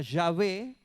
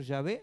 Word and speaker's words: Yahvé: El nombre original de Dios, la pronunciación se perdió. Y los judíos, para que se pueda pronunciar el nombre, le agregaron las vocales hebreas de Adonai al tetragramatón, que es JHWH, imposible de pronunciar, para que quedara Yahvé o quedara Jehová.